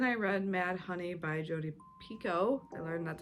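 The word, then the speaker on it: Jodi Picoult: on that then I read mad honey by jod Pico I learned that's how you say her name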